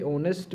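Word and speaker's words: honest: यह है कि भाई यह जो एच है यहां पे साइलेंट है नेस्ट का मतलब ईमानदार तो यहां पे ऑनेस्ट में एच क्या है यह साइलेंट है तो लिहाजा ओ पढ़ा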